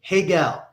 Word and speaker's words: Guell: been called Guell, and in Brazil they call me Hegel, because the R over there is because like the G is usually silent there, right? Or it's pronounced ha. Well, no, because the GU is like in Spanish with QU, que.